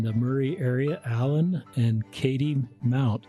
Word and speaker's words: Kattie: It looks like Caddy, but it is Katie.